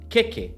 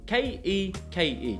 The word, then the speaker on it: keke: dramatically in this example: Keke, k-e-k-e, can you say to me keke with no macrons at all. Keke Keke is the Māori word